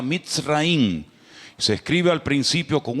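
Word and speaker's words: מצרים: país de Egipto, que en la Biblia se pronuncia mitraín.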